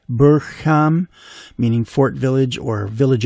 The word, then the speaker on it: Burpham: question by the way I have been pronouncing it correctly buram just to be absolutely certain I checked with one of the workers in the village pub the George to make sure it wasn't pronounced burp ham as you may be